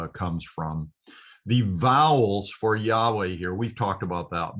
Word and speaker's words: Yahweh: of God over here, Yahweh is the way I'm convinced that it should be pronounced.